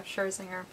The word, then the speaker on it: Scherzinger: I'm sure this is the one that Nicole Scherzinger, is that how you say it? Yeah, Scherzinger.